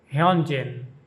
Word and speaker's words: Hyunjin: This name of the member of stray kids is pronounced Honjin.